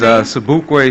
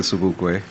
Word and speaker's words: Sobukwe: My name is Sobukwe Shakura, and I am spell it? Okay, S-O-B-U-K-W-E, like Mangalisa Sobukwe.